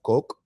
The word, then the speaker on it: COQ: But they're gonna use cock as the gas token on it. That's crazy. It's pronounced coke. Coke.